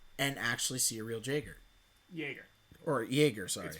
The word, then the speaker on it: Jaeger: actually see a real jager jaeger or jaeger sorry it has a j in front of it but it's pronounced jaeger with a y and that is like